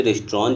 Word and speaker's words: restaurant: ठीक है, वैसे ही यहाँ पे रेस्ट्रॉन जो है बाबू, ठीक है, यहाँ पे टी का उसका जो प्रोनंसिएशन है, उच्चारण है, वो नहीं करेंगे, सिर्फ बोलेंगे रेस्ट्रॉन.